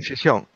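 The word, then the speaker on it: Gijón: So maybe So I wasn't exactly sure how it's pronounced, but so the conference, so UbuCon Europe 2018 is going to be in Chichon? Chichón. In Chichón.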